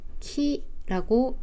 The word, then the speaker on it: 元気: 이 아이를 일본에서는 겐키라고 읽습니다.